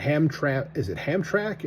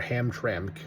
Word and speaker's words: Hamtramck: And Hamtramck? And I don't pronounce the second letter, or Hamtramck, because that's a weird way to move your mouth to say that.